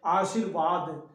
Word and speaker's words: आशीर्वाद: आशीर्वाद, देखिए उच्चारण कर रहे हैं आशीर्वाद, जब उच्चारण हम सही करेंगे आशीर्वाद, तो इस पर ध्यान देंगे। आशीर्वाद यहाँ लिखा गया है, लेकिन यहाँ उड़त र जहाँ लगता है उसके पहले पढ़ना होता है, तो यहाँ स पर